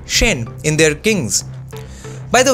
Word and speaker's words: Sen: dynasties both had the surnames Cena or as you would pronounce in Bengali Shen in their kings by